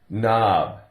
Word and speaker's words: knob: Knob. Take off the K and you have N-O-B, knob. Now that's the sound, not really a word. K-N is the correct spelling, but the K is silent.